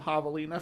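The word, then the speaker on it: javelina: The do havalas is there's no they don't pronounce the J. It's Havalina.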